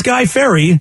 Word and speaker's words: Guy Fieri: think he called him Guy Fieri and uh nobody knows how to say his name but it really is Guy Ferry that's true what's false